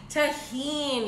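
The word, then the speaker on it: Tajín: Oh also this Tajin I learned how to pronounce it y'all would be so proud about proud of me Tajin y'all thank you to everyone who wrote out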